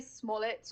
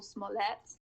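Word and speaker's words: Smollett: got the pronunciation right we say Smet or Smet so the relation is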